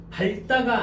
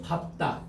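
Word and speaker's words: 밟다: 그래서 발다가 아니고 밥다. 자 별표.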